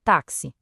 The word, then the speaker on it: táxi: Olha só a palavra táxi. A gente escreve com quatro letras, mas fala cinco sons, porque esse X tem som de KS.